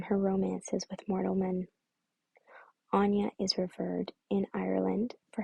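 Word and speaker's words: Áine: moment longer oh okay the pronunciation is anya just found it here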